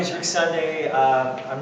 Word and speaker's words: Sondag: To speak to that issue is local Norman educator Rick Sondag, that's spelled S-O-N-D-A-G, pronounced Sunday. Rick. Oh, I'm not. Well, my name is Rick Sunday.